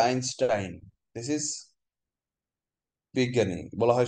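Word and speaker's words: Einstein: আইনস্টাইন, বানানটা এইনস্টাইন কিন্তু উচ্চারণটা আইনস্টাইন।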